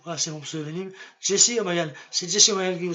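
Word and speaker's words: Jessy O'Magahn: Jesse O'Magan.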